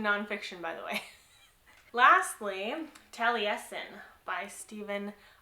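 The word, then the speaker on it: Taliesin: by the way lastly tally Essen by stevenh R lawhead so um I never knew how to say the title until I listen to the Audi book and they say tally Essen so that makes sense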